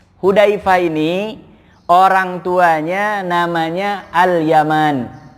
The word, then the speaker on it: Yaman: orang tuanya namanya Al Yaman kalau nama negara bahasa Arabnya nggak ada panjangnya itu Yaman itu bacanya langsung ya tapi kalau ini Yaman ada alifnya Makanya bacanya beda ini susahnya memang termasuk